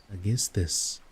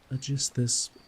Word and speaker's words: Aegisthus: foreland where Thyestes used to dwell, but where Aegisthus was then living.